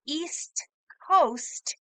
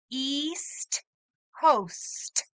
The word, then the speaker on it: East Coast: Carolina South Carolina the east coast is anything that is touching the Atlantic ocean can you say East Coast good job make sure you use the S and the T East host and that